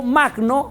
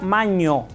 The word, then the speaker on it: magno: En griego, magno se pronuncia maño, no magno en griego.